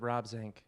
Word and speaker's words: Zinck: It's Swimmer Sink rhymes with Rob Zinck, Yes.